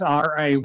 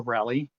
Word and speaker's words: Rayleigh: there'll be rally waves r-a-y-l-e-i-g-h like walter rally um and they'll be or rayleigh if you want to you know i guess i should use rayleigh since you guys are familiar with with that pronunciation um but uh yeah